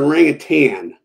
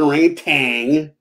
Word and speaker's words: orangutan: First, it's an orangutan, okay? It's not an orangutan. No G on the end. So please don't say it like that. It makes my ears hurt.